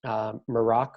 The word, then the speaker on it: Maroc: Morocco, how they say it over there is Maroc, which is MAROC.